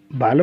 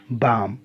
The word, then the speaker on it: balm: ऐसे है BALM, बालम नाट बाम।